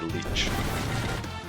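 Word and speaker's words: lich: It's a leech. It's spelled L-I-C-H.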